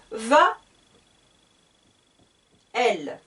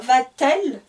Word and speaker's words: va-t-elle: ce n'est pas possible donc ce que je vais faire c'est que je vais ajouter dans ma question un thé pour la liaison quand va-t-elle au cinéma donc il ne faut pas trouvé de sens il n'y a pas de sens pour le thé le thé ici est utilisé seulement pour la diction pour la prononciation quand va-t-elle au cinéma